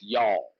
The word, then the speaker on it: y'all: it's just one word. You don't have to give it two syllables. It's just y'all.